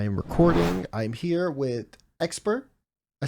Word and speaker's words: Xpere: I'm here with Xpere. I said it right? From Yeah, SSG Xpere.